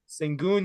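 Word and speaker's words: Şengün: Is that how you pronounce it? Sengun, yeah.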